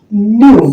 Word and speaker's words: new: grow अब यहां आते हैं एन ई डब्लू न्यू न्यू का मतलब होता है नया और एस